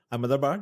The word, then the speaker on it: Ahmedabad: Ahmedabad, yes.